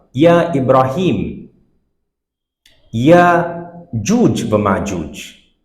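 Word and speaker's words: مأجوج: So Majuj, because of the maf'ul pattern, it becomes Majuj. And for smoothing it out in other languages, they have made it Majuj. And if we don't know, we do pronounce it like that, Majuj.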